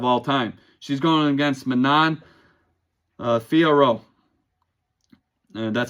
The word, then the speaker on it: Manon Fiorot: She's going against Manon Fiorot. And that's how you pronounce her name.